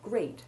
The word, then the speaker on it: great: Exceptions to note here are that the word great has a long A1 sound, as does the name